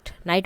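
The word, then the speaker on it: knight: डब्लू अ then नाइट नाइट में क्या होता है जी और एच का साउंड नहीं आता है तो नाइट में जी एच हो जाएगा नाइफ इसमें के की साउंड नहीं आती है तो वो साइलेंट है व्हाट इज द करेक्ट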